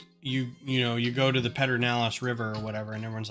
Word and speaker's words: Pedernales: Everyone's like, there's no there's no R in the beginning of that. And everyone's like, yep, that's just how you pronounce it. It's like, okay. But then you find some people who say Pedernales now, and it's different.